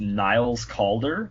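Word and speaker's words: Niles Caulder: His name is Niles Kalder, but it's spelled like a C and a U, and I'm like, huh.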